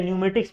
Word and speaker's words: pneumatics: इसको न्यूमेटिक्स नहीं पढ़ते हैं, यहाँ पे साइलेंट है, न्यूमेटिक्स पढ़ते हैं।